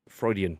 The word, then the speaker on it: Freudian: I just want to see if he notices that Amir pronounced fraudulent slip. Freudian, not fraudulent.